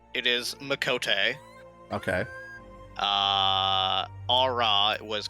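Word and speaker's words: Miqo'te: the pronunciations on the characters if I'm not pronouncing them correctly so for the cat girls you're right it is makot okay uh AA was correct for the dragon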